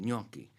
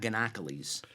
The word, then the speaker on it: gnocchi: And you even say it correctly, gnocchi. It's not ganocchilis.